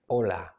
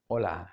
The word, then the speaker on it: hola: don't do it okay we don't pronounce it it's it's mute so it's hola hola hello hola hello and